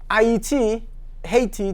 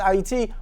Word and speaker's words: Haiti: Up until July 28, 1915, Haiti to you, but it's pronounced Haiti, was so-called independent.